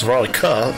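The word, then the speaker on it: Veronika: Is it those one of those silent K things again? No, it's Veronica.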